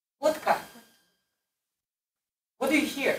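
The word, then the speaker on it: водка: What can you hear when I say vodka? Vodka. What do you hear? He changed the D to a T.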